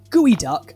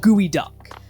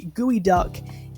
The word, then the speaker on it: geoduck: That is spelt Geoduck, alright? Or Geoduck or something. That is not gooey duck. But I digress. A gooey duck is scary because it's phallic, right?